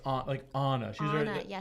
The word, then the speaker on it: Anna: And it's pronounced Anna.